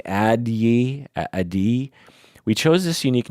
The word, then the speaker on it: Addyi: how to pronounce it addyi ID that the way it is spelled is a D D so ad ad D Y I Yi addyi it's a terrible name